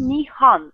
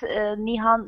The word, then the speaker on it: Nihan: truth as perfect one with the H sound a problem nian but nihan is the perfect nian okay and I I